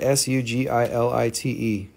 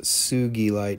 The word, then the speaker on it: sugilite: watching uh spelling sujalite s-u-g-i-l-i-t-e it's technically pronounced sugilite sugilite dr sugi in japan it was the first person who found it they do find sugi